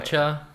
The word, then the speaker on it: Narancia: How do you pronounce Narancia's last name? Narancha.